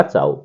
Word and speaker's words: ciao: तो इसको इस तरीके से लिखते हैं, चाओ को CIAO, पढ़ेंगे चाओ, चाओ।